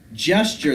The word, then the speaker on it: gesture: someone at rambles gesture gesture that's a soft G Jess sure sure makes the church out